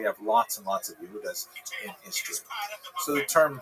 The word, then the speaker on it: Yehuda: But here you can see also with the distinctively ugly physiognomy and so on, Judas, which is of course the Latin way to pronounce the Hebrew word Yehuda or Judah, has an unfortunate